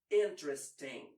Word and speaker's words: interesting: What about the first E in interesting? Well, when is before or o, in some cases, it kind of disappears. But in a more careful, or as we say, spelled pronunciation, it's sometimes used. So either way is good.